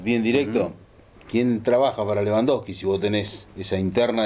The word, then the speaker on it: Lewandowski: Con B corta, Lewandowski. No, trata de no pronunciar la W.